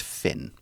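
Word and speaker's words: Fionn: f io n n it's an Irish name it's pronounced Finn hmm yeah lots of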